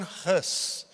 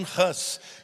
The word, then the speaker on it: Hus: O nome dele era John Huss, e no inglês, Gus é ganso. Então, na pronúncia deles, era muito parecido o sobrenome dele com o ganso.